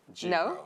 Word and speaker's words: gyro: peon or peon peon jro or Gyro gyro it's jro oh uh Forte or